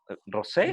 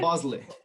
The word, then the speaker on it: Bosley: No sé cómo se pronuncia bien tu apellido. ¿Rosé? Bosley. Bosley. Bosley.